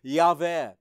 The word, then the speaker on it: Yahweh: four-letter name of God, YHWH, which we say Yahweh.